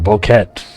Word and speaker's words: bouquet: Picture a bouquet. A bokeette. Yep, that's how you pronounce that word.